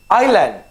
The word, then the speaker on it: island: the first word is island i land mind you is silent there is not so i is a vowel s is silent the main thing is land should be 5 to